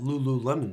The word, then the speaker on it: Lululemon: good marketing that's why you wear all that Lulu Lemon stuff you said it correctly was that how